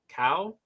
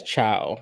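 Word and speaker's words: Caio: I think it's Chow, because I know Chow is spelled that way. It's not Chow. Yeah, I know Chow is spelled exactly like that. That's Italian. I was like, no, it's not. That's Italian. It's definitely like cow.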